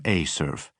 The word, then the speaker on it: ACERF: Evers pronounced the facility acronym Acurf.